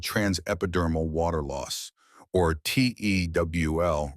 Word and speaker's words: TEWL: This process is called transepidermal water loss, or tewl rhymes with jewel.